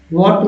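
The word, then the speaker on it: what: व्हाट में एक जो है साइलेंट है, तभी व्हाट पढ़ते हैं, व्हाट।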